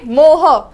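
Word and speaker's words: mho: Numerical में क्या डालोगे, मोह। क्या है वो, मोह। सो ये इट गोस लाइक मोह, कोई मोह बोलता है, मोह, जो भी बोलना है बोलो, मैं मोह प्रोनाउंस करूंगी। सो इट इज मोह एंड हियर वी गो।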